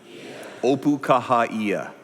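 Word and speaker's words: Opukahaʻia: let me have you pronounce this with me opu opu kaha kah opukahaia that means in Hawaiian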